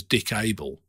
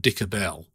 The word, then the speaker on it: Dick Abel: sure his name was dick abel not dicker bell as they kept pronouncing it right that i'm guessing